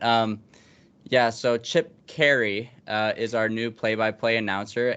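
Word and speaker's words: Caray: uh at the time I pronounced it chip Correa and I said he was the grandson grandson of Londonderry Harry coray now I deserve a slap in the face because that's Harry Carey uh I can't believe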